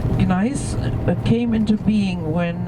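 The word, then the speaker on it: gneiss: see along the way it is a special type of nice with a silent g nice nice but came into being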